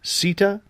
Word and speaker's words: Sita: and your name is Sita one second well I honestly don't know if I'm pronouncing it correctly and I apologize yes it's CIT ta so could be a cheetah Sita exactly okay great yeah so